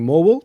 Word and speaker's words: Morwell: While we were having dinner last night, there was an email passed around correcting our pronunciation of Morwell. We should be saying Morwell, not Morwell.